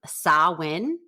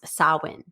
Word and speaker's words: Samhain: Okay, so this is a Gaelic word and it's pronounced Samhain, but it's spelled Samhain, Samhain, but it's pronounced Samhain.